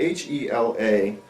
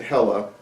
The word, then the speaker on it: Hela: It's spelled H-E-L-A. They're from Spain, and I refuse to pronounce it Hella.